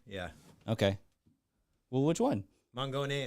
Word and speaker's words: Mangone: Mangone is proper pronunciation.